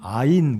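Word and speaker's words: עין: 오늘 살펴볼 이 히브리어 16번째 알파벳은 아인, 그래서 아 발음, 영어로 A 발음이 되겠고 한글로는 이응 또는 아 발음이 되겠습니다.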